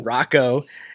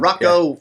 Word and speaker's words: Rakau: Oh, it's been everything from Raal or Rocco was definitely not Roco. Roku was one, right?